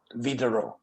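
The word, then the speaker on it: Widerøe: so i'm sticking with vitaro okay as they call them but anyway we need a norwegian person to tell us how to pronounce but apparently the w is pronounced as a v b yeah so go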